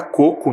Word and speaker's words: coco: Então percebemos também, analisamos a palavra e percebemos que a palavra coco é uma palavra paroxítona. O que significa isso? Tem a penúltima sílaba tônica e a palavra cocô é oxítona, tem a última sílaba tônica.